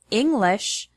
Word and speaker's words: English: For example, the word English has the stress on the first syllable, ing.